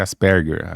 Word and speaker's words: Asperger: de Asperger, que aqui mas o certo é Asperger, a pronúncia, depois eu aprendi.